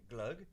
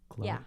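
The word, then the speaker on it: Glögg: Uh, which we drink from the Christmas time and it's called Glug. And that's like, do I say it right? Glug. Glug.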